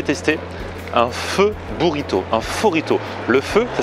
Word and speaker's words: Phorrito: Bon, j'y suis, donc on est à Forito. Ça se prononce comme ça? C'est ça, Forito.